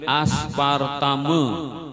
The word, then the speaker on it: aspartame: ada apa gitu SMS aspartame bacanya aspartam jer jurnalis Inggris tulisannya